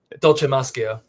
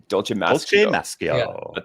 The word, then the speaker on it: Dolcemaschio: Dolce Mascio. Dolce Mascio.